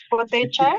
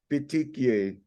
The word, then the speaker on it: petechiae: Answer po natin is purple red tongue with potecha. Ang hirap i-pronounce na. Ganito po, makinig mo na kayo. Petechiae.